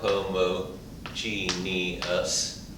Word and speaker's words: homogeneous: recognize this as homogeneous homo Gene e us or homo genius five syllables and some math professors get